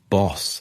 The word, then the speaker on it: Bosch: The young Geronomous later adopted the name Bosch, pronounced boss in Dutch, as tribute to his hometown that was known locally as Denbos, the forest.